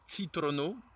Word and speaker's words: citrono: Ou on pourrait aussi choisir un fruit comme Citrono pour un citron.